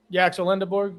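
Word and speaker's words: Yaxel Lendeborg: Yaxel Lindeborg.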